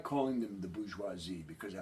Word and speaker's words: bourgeoisie: europe now the the this word here is pronounced bourgeoisie it's a french word basically means city dweller